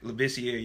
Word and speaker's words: Labissiere: I never pronounced his last name. I think it was Labissiere. Labissiere, you're right.